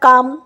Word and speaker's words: calm: Next হচ্ছে কাফ, CALF, কালাফ তো বলি না, CALM কালাম বলি না, কাম।